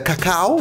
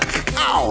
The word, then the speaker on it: cacao: With some dark creme de cacao. Okay, notice the pronunciation. Cacao. You see that? Cow. Okay.